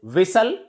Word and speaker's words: whistle: Next is whistle. Whistling sound. Whistle. We can say that T is silent before LE at the end of a word.